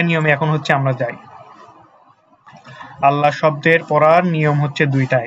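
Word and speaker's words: اللهُ: কারণ কি কারণ হচ্ছে যে এখানে এই যে আল্লাহ শব্দের পূর্বে কি আছে জবর আছে জবর থাকার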